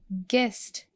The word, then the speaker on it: guest: Guest, where we don't pronounce U.